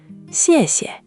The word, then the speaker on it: xièxie: Now the whole word, and let the second syllable just fall away lightly. Xièxie.